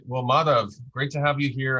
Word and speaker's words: Madhav: Madhav is my name. I like to say modify without the Y is the pronunciation.